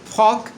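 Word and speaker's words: folk: যেমন আমরা প্রায় বলে থাকি আই অ্যাম আ বিগ ফ্যান অফ ফক music. I অ্যাম আ বিগ ফ্যান অফ ফক মিউজিক। এই ফকের সঠিক উচ্চারণ হচ্ছে ফোক।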